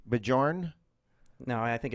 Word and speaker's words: Bjorn: Bajorn? No, I think it's Is the Bjorn. J but silent? I like to pronounce the J. I think it's more fun that way. Oh.